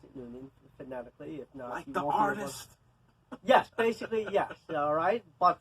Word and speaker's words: Trung: is from Union I like to pronounce it Union yes basically yes alright but the actual way of pronouncing is so I say when you say exactly because